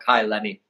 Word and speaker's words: Kai Lenny: Like, and we're talking about Kai Lenny, right?